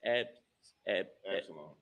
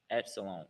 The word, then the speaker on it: Absalom: It's pronounced Absalom. Absalom.